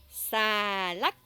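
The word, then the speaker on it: xà lách: Après, salade, c'est salak. Nous avons un accent qui descend et un accent qui monte.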